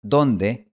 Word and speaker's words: donde: Por ejemplo, en la palabra donde, la O en realidad es una O nasalizada. O sea, se pronuncia con el aire saliendo al mismo tiempo por la boca y por la nariz. Esto ocurre porque la siguiente consonante, n, es nasal.